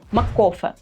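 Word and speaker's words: MacCoffee: наприклад купуємо безсмертну класику маккоfeе Саме так треба вимовляти її щоб звучало автентичніше але варто зазначити що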